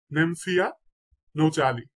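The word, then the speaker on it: Nymphaea nouchali: শাপলা, শাপলার বৈজ্ঞানিক নাম হচ্ছে নেমফিয়া, নেমফিয়া নৌচালি, নেমফিয়া নৌচালি।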